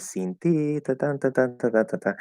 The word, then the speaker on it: sin ti: Now, the letter I in Spanish is supposed to be pronounced E, right? Is that first vowel. So it should be sin ti, and usually that is how it will come out.